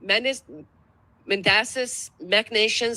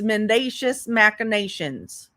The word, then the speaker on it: mendacious machinations: tarnished hereto by the men mandas mechnations of appellent at night. Oh Britney. Uh since since granny didn't quite pronounce that correct, I'm going to tell you it's mendacious machinations.